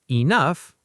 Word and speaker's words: enough: Enough, pronounced like stuff.